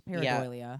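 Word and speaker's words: pareidolia: heard before I have that's basically what how you say it it's paradia yeah there it is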